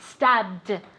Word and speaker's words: stabbed: what stab very good stabbed okay and that d sound at the end stabbed let's see if she